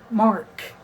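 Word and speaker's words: marque: familiar with the term letters of Mark m a r quu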